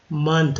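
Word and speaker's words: month: मंथ, ओ का उच्चारण यहाँ पर आ के रूप में किया गया है, तो मंथ।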